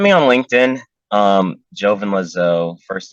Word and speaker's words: Lezeau: on LinkedIn um Jovan Lazo first name is spelled j-o-v-i-n last name l e z e a u please don't call me Dr lizzo um still don't I'm